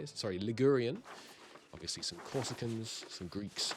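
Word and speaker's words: Ligurian: Uh we are 67% Liarian. How do you say it? Sorry, Lurian.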